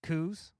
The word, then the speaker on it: coups: like 6 of these coups. Yeah. Coups. Yeah. Coups. Okay. No, it's spelled with a P, but it's a silent.